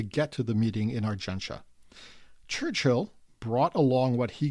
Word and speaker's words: Argentia: the second Summit meeting of allies was in Argenta yes that's the correct pronunciation it's spelled Argentia but it's pronounced arenta as I have been uh informed in no